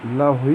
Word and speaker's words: Lawhi: Certains disent Louhi, mais Lawhi, moi je le prononce comme ça.